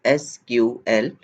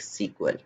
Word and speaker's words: SQL: for structured query language pronounced as SQL or something like sequel ok SQL is the